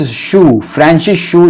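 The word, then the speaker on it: Hsu: Francis शू, इसमें H silent है, इन्होंने साइकोलॉजिकल एंथ्रोपोलॉजी का टर्म दिया।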